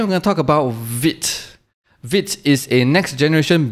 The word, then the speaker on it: vite: And vite is also a French word for quick.